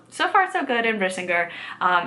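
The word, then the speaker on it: Brisingr: in the back and thought it was bringer which is not right it's brisinger um and it's actually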